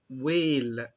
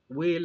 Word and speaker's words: whale: زي مثلا كلمة whale، whale هنا ال H ما طلعلهاش صوت، ال W هي اللي اتنطقت بس.